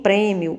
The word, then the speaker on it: prêmio: maneira nas duas palavras não né porque porque na palavra época o som representado pelo é ele é aberto em prêmio ele é fechado né então aí nós